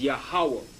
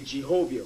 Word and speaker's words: Yahawah: W and the ha which is yahawah they have a Jehovah which is wrong will appear more obvious